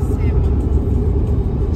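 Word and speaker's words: salmon: Купил себе сырую рыбку салмон. Сейчас буду ее кушать с васаби и с соевым соусом. Правильно говорю, сэмон. Сэмон? Да, но не читается.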